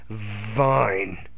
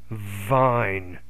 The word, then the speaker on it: vine: off half half fine vine fan van wafer we Yeah, I think you need to pronounce that initial V with more vibration. So you have fine, vine, vine.